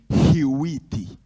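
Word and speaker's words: Hewitt: nome não aparece nos livros se chama David rwi David rwi rwi se escreve h ew i s David rwit ele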